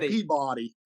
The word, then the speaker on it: Peabody: Yeah, and it's I can tell that you've actually been there because you pronounce it correctly, Peabody rather than Peabody.